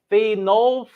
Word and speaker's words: phenolphthalein: So the way you can do it is phenolphthalein is how you need to pronounce.